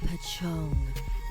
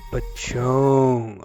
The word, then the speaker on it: pocong: The Pong. Pachong. Okay. So, that's how you say it.